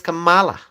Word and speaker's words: Kamala: pronouncing it correctly I mean how should I pronounce it it is Kamala uh the reason why Kamala did not attend